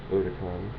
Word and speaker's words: Otakon: convention, which is Otakon, or it looks like Otakon, but it's actually pronounced Otakon, is a big anime convention on the East Coast.